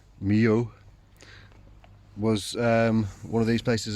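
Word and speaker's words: Millau: The place I stayed at in what I was pronouncing as Milau, it's actually Mio, was one of these places as well.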